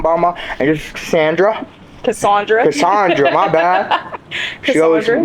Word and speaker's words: Casandra: Casandra, my bad.